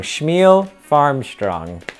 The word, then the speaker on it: Shmuel Farmstrong: It rhymes with Neil Armstrong. Shmuel Farmstrong.